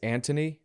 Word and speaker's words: Antony: I think it's Antony is how you say his name.